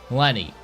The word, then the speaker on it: Lenne: But let us go to my favorite character, the one that kept at the top, Lenne. Lenne was my favorite character. Also, I found out, yes, her name's actually pronounced Len, but I'm going to